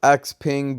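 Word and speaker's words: XPeng: on xpev now keep in mind it is pronounced x ping but i like to say xpath because that's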